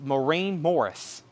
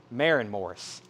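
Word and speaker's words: Maren Morris: Humble Quest, Maureen Morris, $29.99. Marin Morris, excuse me. Could be pronounced both ways, right? How'd you say it? Marin? That don't sound right.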